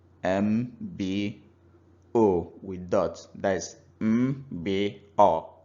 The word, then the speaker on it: Mbo: So, for example, a word that is spelled M-B-O with dot, that is M-B-O in Igbo. We can assign high tone to the M and the word will become Mbo.